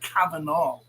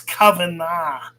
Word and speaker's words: Kavanagh: the is mr cavanaugh it's kavanagh kavanagh get it right but of course no